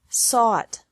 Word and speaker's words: sought: Seek, sought, sought. Teach, taught, taught. Think, thought, thought. Remember that the G is silent in these verbs.